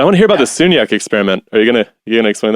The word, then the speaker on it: Sagnac: Can you tell me how to spell that? I'm trying to look it up, and I'm not. Oh, Sagnac. Sagnac. It's Sagnac.